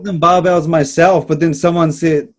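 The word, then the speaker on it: Barebells: I mean, there is an E in there, so it is technically Bear Bells. It just didn't make any sense, but Bear Bells is what I've been told is how they say it.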